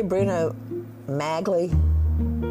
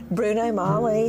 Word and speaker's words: Magli: like OJ and the Bruno Magnus shoes. Come on, that's huge to me. Did you say Bruno Magli? Did you just say that? I don't know how to pronounce it. Bruno Magli.